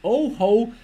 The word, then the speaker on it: Ojo: mixed reality headset the oho 500 and it's written Oh Jo Oh Jo 500 but is being pronounced as oho 500 and they might have